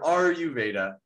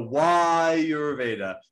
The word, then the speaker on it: Ayurveda: of friends and colleagues who still pronounce the word are you veda and and the the word is not are you veda it uh gets is going so so why you're veda it helps us pronounce